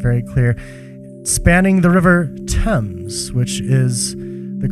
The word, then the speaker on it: Thames: It's obviously, it's a bridge in London, if that wasn't very clear, spanning the River Thames, which is the correct pronunciation of that river's name, I have found.